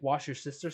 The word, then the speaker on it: Worcestershire: You said it right. Wash your sister sauce.